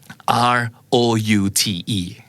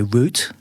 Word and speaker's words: route: yeah or how about R-O-U-T-E how do you say that word I think British would say root root right yeah root เหมือน root RCA นี่เนาะบ้านเราภาษาไทยก็ root เหมือนกันนะครับแต่หลายๆครั้งจะได้ยินภาษาอังกฤษแบบอเมริกันออกเสียงว่า route oh really yeah. route like router sure as another way